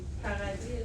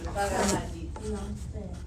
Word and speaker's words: paradis: Paradis et l'enfer. Oui, comme ça. L'enfer. C'est quoi ça? Paradis. Paradise? Paradis. On ne prononce pas le S.